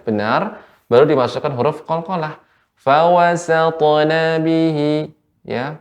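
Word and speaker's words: وَسَطْنَ: Fawasatna bihi ya, ketika saya potong fawasatna, jangan sampai fawasato nah, sehingga terkena pengaruhnya.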